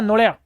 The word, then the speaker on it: नोड़िया: नेवला, you know नेवला, नोड़िया। It's right pronunciation in Rajasthani, नोड़िया।